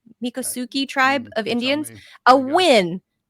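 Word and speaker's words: Miccosukee: to as alligator Alcatraz, handing environmentalists and the Mikasuki tribe, is that how it's pronounced? Mikasuki tribe of Indians a win.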